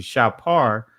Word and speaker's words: shofar: We did it internally for Bible study, but then I'm going to show you a teaching on the shofar, or the ancient pronunciation shapar, which also you see transliterates to the word trumpet as well.